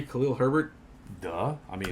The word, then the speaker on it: Khalil Herbert: Khalil Herbert.